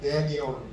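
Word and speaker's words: Daniel: 영어도 다니엘 또는 미국식으로 발음하면 데니얼 이렇게 되어 있습니다.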